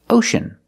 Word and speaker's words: ocean: horrible now I see this word ocean we see sea before the vowels e a so the C also makes the sh sound here it makes the sh sound like shoes and show ocean ocean now remember